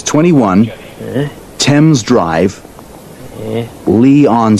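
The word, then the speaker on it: Leigh: Temp's drive, Lee on C.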